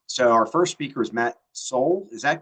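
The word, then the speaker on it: Matt Soule: Um, so our first speaker is Matt Soul. Is that correct pronunciation? Very close. It's Matt Soul. Matt Soul, the founder and CEO of Parallel Systems, a company developing autonomous battery electric rail vehicles.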